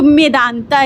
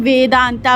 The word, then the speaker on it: मेदांता: तो वो रिलेट करेंगे तो मेदांता इसका प्रोनाउंसिएशन है मैं वेदांता अब तक के गलतफहमी में थी जब से इसको देखा तब मैं जानी कि ये मेदांता है तो फाइनली हम लोग